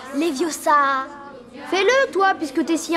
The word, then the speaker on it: Leviosa: C'est Leviosa et pas Leviosa.